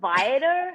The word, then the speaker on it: Viator: I pronounce the R. So Viator, yeah.